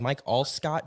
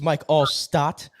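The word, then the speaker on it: Mike Alstott: me she first of all she got his name wrong she's like Mike allcott do you know who that is and I said all yeah I'm like it's Mike allot I'm like I dressed up as him for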